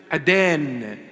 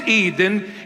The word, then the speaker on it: Eden: Now Adana, that's where Aden, that is in the proper pronunciation in the Syriac language. Aden, not Eden, it's Aden.